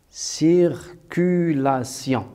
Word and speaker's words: circulation: la réponse sera circulation circulation alors bien sûr le t6 se prononce on dit cir culation circulation alors bien sûr une